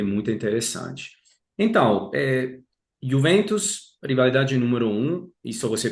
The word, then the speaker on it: Juventus: Então, talvez para mim a maior rival seja ainda a Juventus. Aqui, prestem atenção, brasileiros, não é Juventus, mas é Juventus. Juventus. a Y, a J, né, se pronuncia como uma I simples.